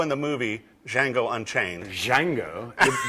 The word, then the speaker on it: Django: the movie Django Unchained Django and the D is silent just like the guitarist